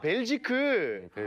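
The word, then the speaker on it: Belgique: 그래서 수도가 어디냐라고 물어봐가지고 저 브뤼셀이라고 했더니 벨지크 라고 해가지고 이제 그게 이제 불어 발음으로 벨기에라고 말하면 벨지크고 네덜란드로 하면 벨기에인 건데 그래서 이제 한국에서는 남한에서는 이제 벨기에라고.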